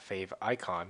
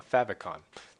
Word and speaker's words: favicon: add a fa favicon that's how you say it not Fave icon it's a favicon that's how all the cool people say it anyways um where